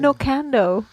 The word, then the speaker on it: Nocando: Nocando. I want to live in Nocando. I believe it's pronounced no can do.